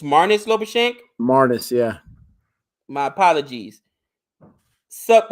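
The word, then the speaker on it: Marnus Labuschagne: wow that's impressive mares I thought it was Marcus lashan it's mares lashen mares yeah my apologies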